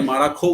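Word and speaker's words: Marajó: ইয়াহা এই ইয়াহাদে মারাজো, এটাকে মারাখো উচ্চারণ করে দক্ষিণ আমেরিকার লোকেরা।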